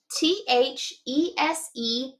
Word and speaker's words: these: And in this word, the S is kind of making a little bit of a Z sound. And what makes this E say its name? Silent E on the end. THESE, these.